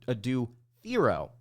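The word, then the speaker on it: Adou Thiero: going up against as well that would be a do theier zir evasic and DJ Wagner apparently it's actually pronounced ad do Theo which he corrected people on once he got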